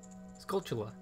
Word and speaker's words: Skulltula: The Skulltoll? Skulltula. Skulltula? Is that how you pronounce it?